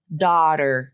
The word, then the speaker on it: daughter: thing to point out is there's a flap this T and daughter becomes the flap so that's why it's um you see the flap symbol right underneath that so think about that as a fast D sound daughter d d not daughter daughter daughter daughter daughter it's like a D sound so that occurs in